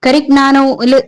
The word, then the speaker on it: Carignano: Carignano G is silent because it is Italian word.